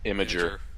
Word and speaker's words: Imgur: Imager.